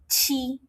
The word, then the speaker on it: xi: XI is pronounced as alphabet C.